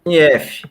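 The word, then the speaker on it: SINIEF: O auditor da Cefaz deu por infringido o ajuste, eu não sei a pronúncia certa, SINE, como é que se pronuncia? CINIF, ajuste CINIF.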